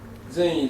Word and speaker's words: Zen: Chinese people heard the dhyana Zen, Chan actually, Chinese Chan. And it came to Japan, we pronounce these words Zen.